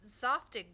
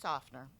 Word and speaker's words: Tsafnur: But she's your Softig buddy. Honey, it's pronounced Tsafnur. If you're gonna be here for this, try to say it correctly.